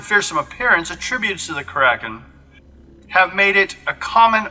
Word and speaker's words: kraken: In modern German, crake means octopus, but can also refer to the legendary kraken, or as some would say, kraken.